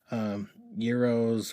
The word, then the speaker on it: gyros: Gyros and all that. That's how you say it, right? Not gyros. That really pisses them off. But no gyro. That's a local commercial here. No gyro. Euros or, well, you know how it's spelled.